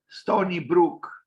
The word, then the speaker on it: Stony Brook: Bertrand Goldberg, Sony University, the Sony. It's actually Stony Brook. Sorry, I pronounced wrongly.